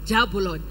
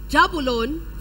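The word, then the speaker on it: Jahbulon: Wikipedia definition but anyways it's pronounced as jabulon jabalon from Hebrew yeah is the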